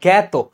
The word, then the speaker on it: জ্ঞাত: আর জ্ঞাত, এখানে তুমি কিন্তু এটাকে এ উচ্চারণ করছো, এই জন্য তোমার এটা লিখতেই হবে সেভাবে, জ্ঞাত।